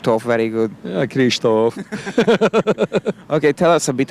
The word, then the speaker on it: Kristóf: you can't say my name very good yeah Kristof okay tell us a bit about the movie